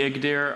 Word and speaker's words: Igdyr: The Igdir are are The Igdir are considered one of